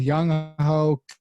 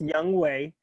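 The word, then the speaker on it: Younghoe: a really solid uh i'm gonna go with young hulk now first of all his name is young weiku it's pronounced young way okay i know that because every time he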